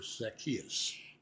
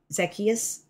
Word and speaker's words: Zacchaeus: like it did for Zacchaeus. And let me just make this note. I noticed at the end of our sharing today that Stephen pronounces the name Zacchaeus. I think so. And I say Zacchaeus.